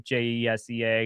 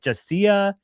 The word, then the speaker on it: Jesea: cool, so I just changed it to Jesa because I thought it was like rad, like Jessie. Uh, and it just it set me up for a lifetime of people not being able to pronounce my name, unfortunately, because now everyone's like Jessia, Jesse, which is so crazy because no one looks at the name Chelsea and it's like Chelsea, Chelsea.